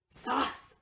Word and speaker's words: sauce: So A-U says aw. So s, aw, s. Remember when C is followed by an E. So when an E comes after C, the C makes the soft C sound, which is s. So s, aw, s, sauce.